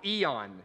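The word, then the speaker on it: αἰών: Is the word ion, or eon is how we might pronounce it.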